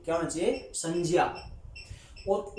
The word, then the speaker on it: संज्ञा: तो फिर इसका उच्चारण संज्ञा नहीं संज्ञा होना चाहिए। क्या होना चाहिए? संज्ञा।